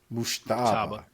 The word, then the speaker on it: Mujtaba: Mujtaba.